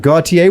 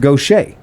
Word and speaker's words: Gautier: this is earl johnson he's located in i pronounced it gautier we have a friend whose name is dave g which is dave gautier but it turns out it's pronounced gautier so uh and that's ms mississippi right so